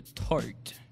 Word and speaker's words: Tarte: Passons maintenant à Ariane qui va nous parler de Tart. Est-ce que je le prononce bien? Oui, c'est bon, c'est ça. Ouais, c'est ça. Je vais vous parler de la marque Tarte, comme tu l'as dit.